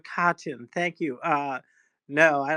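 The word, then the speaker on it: Katyn: Um who committed the war crimes in Kitan or Kitan or however you say that. Um yeah, so uh reconsider history. No, Kachin.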